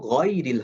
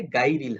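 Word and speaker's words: غير: যিনি গাইরিল পড়ে তাকে আপনি এখন বুঝাতে পারবেন যে গইন যেহেতু মোটা হরফ এই সাউন্ডটা হবে অ সাউন্ডে, এইজন্য গয়রিল হবে, গাইরিল হবে না।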